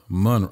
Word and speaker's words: Monroe: Monroe.